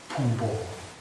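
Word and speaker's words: ཕུང་པོ: In Sanskrit it is called skandha, and in Tibetan it is called pungpo, P-H-U-N-G-P-O, pungpo in Tibetan.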